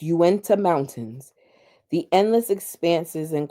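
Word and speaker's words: Uinta: Alexa, how do you pronounce ui na? She just she just gives up. Okay. She says, "It's Uwenta Mountains.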